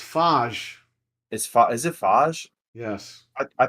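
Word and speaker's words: Fage: Actually, is it Faye? No, it's Faj.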